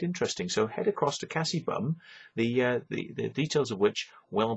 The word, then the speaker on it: Kassie Bumme: So the channel is called Kassie Bumme, right?